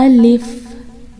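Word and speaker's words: ألف: लगते हैं कि अलिफ कि अलिफ कैसे पढेंगे इसको अलिफ अलिफ अगर हम इंग्लिश में स्पेलिंग देखें तो बनेंगे a girl if a girl IS अलिफ इसको अपने अलीफ नहीं पढ़ना है कि अलीस गलत इस तरह नहीं पढ़ना और उसके बाद आता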